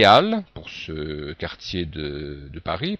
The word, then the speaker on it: Halles: H muet en tête, pour indiquer qu'il n'y a pas de liaison. Hein. Ici, on dit bien les Halles, pour ce quartier de Paris, par exemple.